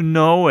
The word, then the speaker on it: know: Y en la palabra know, nosotros no pronunciamos la K. No se pronuncia.